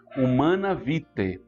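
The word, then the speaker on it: Humanae Vitae: Humana Vitae. Esse AE aí se pronuncia E em latim, que você entenderá o ensinamento da igreja.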